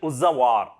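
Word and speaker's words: Uzhavar: The ordinary plugmen were known as, say, Uzawar. Uzawar. What's called? Uzwar. We can call as the pronunciation Uzawar, right?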